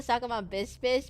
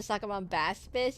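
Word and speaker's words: Sacabambaspis: I don't I It's not It's the sakabon bispis. Baspis, not the bispace. I call the sakabon bispus, but to actually pronounce the sakabon baspis.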